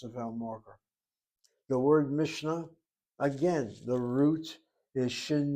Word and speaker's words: Mishnah: One is called the Mishnah. Some people pronounce it as Mishnah. Mishnah. Mishnah with a kamatz. Though the pronunciation Mishnah is also found among the Ashkenazim. The word has two syllables.